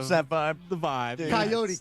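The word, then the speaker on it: Kaiyote: Coyote, K-A-I-Y-O-T, probably rhymes with peyote, right?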